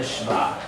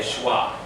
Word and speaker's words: shva: And this is called the Shva. You'll see sometimes in biblical scholars will say Shwa.